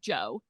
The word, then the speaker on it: Djo: so the band name is Joe, but it's spelled DJO.